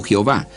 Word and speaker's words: Jehová: Respecto al nombre de Dios, el Antiguo Testamento dice Yahvé o Jehová, manera distinta de pronunciar.